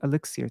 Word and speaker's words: elixir: Please distribute this magic elixir to us. Elixir, right? That's how you say it, elixir.